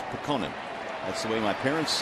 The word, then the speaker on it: Putkonen: But I asked Luke the other day and he said, nope, it's Pekonen. That's the way my parents have pronounced it. And he goes with Pekonen.